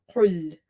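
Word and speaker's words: قل: Qaraf is heavy. And in the last class, I have explained the makharaj, the articulation point or pronunciation point for the qaf, that it's heavy and it's pronounced from the root or the back of your tongue when it touches the soft palate or the soft part of your upper palate. And it's quite heavy, full mouth letter, qul, qul.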